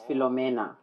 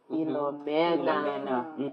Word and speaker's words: Philomena: And it's Philomena. Okay. Philomena.